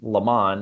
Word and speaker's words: Leman: Uh my name is Leman is how you say l e m a n and Lamont is the clan uh in my novel.